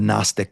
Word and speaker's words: Gnostic: her book called the Gnostic Gospel which begins with the G that's silent g n o s t i c the Gnostic